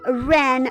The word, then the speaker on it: wren: I am a wren bird, okay? Tweet, tweet. All right. This bird starts with the two-letter R. Okay, first letter is silent. Shh, don't wake it up. The second one does the talking.